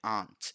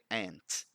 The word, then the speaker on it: aunt: correct pronunciation of it which is ant in the british english and ant in the american english not out we don't pronounce that you if you're using british english you say aunt if you're using american english you say ant okay and guess what your